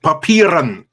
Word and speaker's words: Papieren: say to you all, it's pronounced papieren. You say that really loud. Practice. Roll the R.